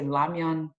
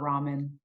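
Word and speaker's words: 라면: By the way, Korean people, we say ramyeon. It's not ramen.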